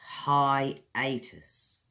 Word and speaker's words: hiatus: will be a hiatus in English lessons That's hai· ei· tuhs.